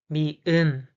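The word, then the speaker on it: 미음: The pronunciation is ma, ma, ma. The name is mi'un, mi'un, mi'un, mi'un, mi'un.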